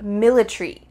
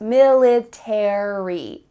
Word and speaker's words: military: final letters 8ry military in British English they often cut out the a so instead of military it would be military military that a is